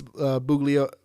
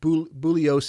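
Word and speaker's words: Bugliosi: you haven't read uh vince buglio bullios excuse me g is silent bullios's uh book um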